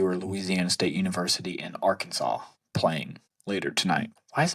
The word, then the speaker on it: Arkansas: And then we've got LSU or Louisiana State University in Arkansas playing later tonight. Why is it pronounced Arkansas, not R Kansas?